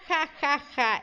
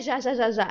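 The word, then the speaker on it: ja ja ja: Eles riem com J. Então não é já, já, já, já. É ha, ha, ha.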